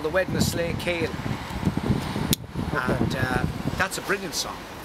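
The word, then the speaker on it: Slaykele: for it would be Slay Cale, the narrow way. And it was a narrow lane. And like the Waterford people would pronounce Slee as Slay.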